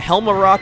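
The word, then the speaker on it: Helmaroc: Rock King hel yeah helar rock is how you pronounce it the just break away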